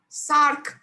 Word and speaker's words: Src: So named because the sequence of an SH2 domain is similar to that of a domain in the SARC. That is how you pronounce SRC, SARC.